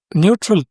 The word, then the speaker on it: Newtral: To end today's brief, Neutral Technologies, and they spell it as NEWTRAL, a climate startup in Bengaluru, has raised $600,000 in funding from Now Accelerate, Indian Startup Times reports.